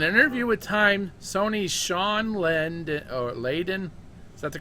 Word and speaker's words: Layden: In an interview with Time, Sony's Sean Layden, is that the correct way to say his last name? Yeah, Sean Layden, yeah.